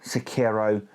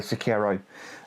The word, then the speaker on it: Sekiro: SoulsBorne games, from Dark Souls, Demon Souls, Bloodborne, Sekiro, Elden Ring.